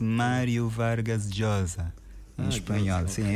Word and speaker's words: Vargas Llosa: Pronuncia-se Mário Vargas Josa em espanhol. Sim, é assim a pronúncia correta. Mas vamos podemos dizer como se costuma dizer em português para facilitarmos as coisas. Mário Vargas Losa, mas é Mário Vargas e sem dúvida um